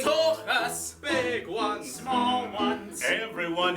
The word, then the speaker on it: Tuchus: you have a shapely took ass. No, Scotty, it's Tuchus, T-U-K-H-U-S. Tuchus, Tuchus, Tuchus, Tuchus. Each Tuchus I hold dear to me for certain reason. No Gentile can pronounce the H, but for Jews.